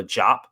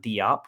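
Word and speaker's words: Diop: this squad is Masamba Jop. Want to just let everybody know it is Jop, not DOP. We received the pronunciation guide from the team themselves. So Masamba Jop is how it is pronounced.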